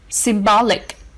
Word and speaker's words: symbolic: The last one, symbolic, has stress on the second syllable.